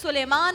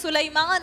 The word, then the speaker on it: سلیمان: حضرت سلیمان علیہ السلام, جنہیں سلیمان نہیں کہنا چاہیے کیونکہ علامہ کوکب نورانی اکاڑوی صاحب کہتے ہیں سلیمان اصل تلفظ ہے.